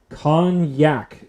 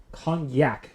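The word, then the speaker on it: konjac: a japanese yam or something right ingredients water con yak flower that's spelled k-o-n-j-a-c kanyak flour chickpea flour and potato starch and calcium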